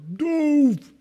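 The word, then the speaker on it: דֹּב: Dove! That's what he sounds like. It's got a long O to it.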